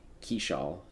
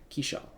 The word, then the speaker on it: Keishal: The only new acquisition who hasn't quite been up to snuff is Keishal. That is how you say his last name, apparently. Keishal, which is a little disappointing, but, again, very small sample size, 10 games.